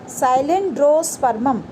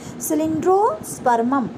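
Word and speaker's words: Cylindrospermum: ठीक है, नेक्स्ट जो है आपका दैट इज़ साइलेंड्रोस्पर्मम या सिलेंड्रोस्पर्मम बोल सकते हो आप। ठीक है, एग्जैक्ट प्रोनाउंसिएशन क्या होगी इसकी, सिलेंड्रोस्पर्मम।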